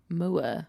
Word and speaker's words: Moore: I say it properly. Moore. Mandy Moore. It's just Moore. No, it's not, Eloise. It's 2 O's and it's got an E at the end.